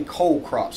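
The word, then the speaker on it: cole crops: it's you know cool weather but it's technically cold crops so c-o-l-e is how it's pronounced this refers to the stem of the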